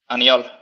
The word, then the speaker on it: Aniol: how do you say his first name? Anyal. Aniol. Yeah. Okay. I definitely don't say it like that. He is someone, I've said this before, but he is someone who I cannot just say his first name. I have to say it like Anyola Kai.